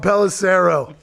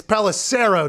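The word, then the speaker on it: Pelissero: i read between tom pelicero we pronounced his name wrong the first 10 times he came on the show it wasn't until a couple weeks ago it's palacero not sorrow you know what i mean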